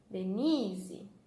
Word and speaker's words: Denise: Então, de, ni, ze, tá? Qual será que eu falo mais forte? De, ni ou ze? Ni, tá? Então, o ni é a nossa sílaba tônica. Denise, tá?